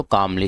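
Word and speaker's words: calmly: कामली। इसमें जो एल है वह साइलेंट है।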